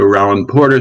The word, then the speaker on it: Rollin Porter: joe roland porter let me make sure i pronounce that correctly from now on i've learned something this evening so roland porter thank you so much for joining us and